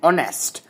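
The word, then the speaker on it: honest: अब यहां पे बिफोर साइलेंट साइलेंट्स जो होते हैं जैसे एन ऑनेस्ट अब एच ओ एन ई एस टी है तो ऑनेस्ट लिखा हुआ है।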